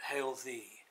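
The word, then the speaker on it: Heol Ddu: as a letter centre at hail thee that I'm told is the correct pronunciation but the spelling is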